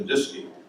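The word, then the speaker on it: DSKY: computer's display and keyboard the disking rhymes with whiskey uh it was laid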